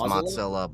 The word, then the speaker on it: Mozilla: it anyway so here wait that's how you pronounce it well technically it's Mozilla but yeah oh I I I just have